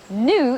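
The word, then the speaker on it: gnu: not a newborn baby new in fact is spelled g n u and it's a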